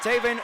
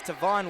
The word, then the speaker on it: Tavon: I think if it's saying his name wrong, I believe it's Tavon Whitted.